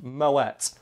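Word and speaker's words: Moët: you one thing though it's pronounced Moet common mistake and I'll get it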